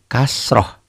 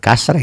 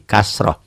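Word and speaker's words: كسرة: berbaris di bawah ini namanya kasroh Jangan kasar ini lagi kasroh tuh ya paham lafadz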